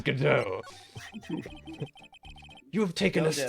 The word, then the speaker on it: Godot: His name is Godot, that I actually pronounce Godot or something until my dad corrected me. A true story, I think. Got it? It's Godot.